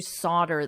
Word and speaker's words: solder: form one piece you solder them. So you basically glue them together. However, I am not an expert in this but I will confirm that the pronunciation is Otter Solder to solder to solder.